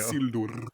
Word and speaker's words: Isildur: Roll your R's, please. There you go. Isildur. Thank you. Every video I see of people talking about Isildur, they've been saying Isildur a lot, and I've heard it more than once. People saying Isildur. Isildur. I don't know what that is, but people aren't hitting those R's.